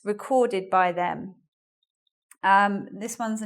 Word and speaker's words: record: We have a record of all the records recorded by them. This one's a noun, this one's a noun, and that's the verb. So the stress is in different places there.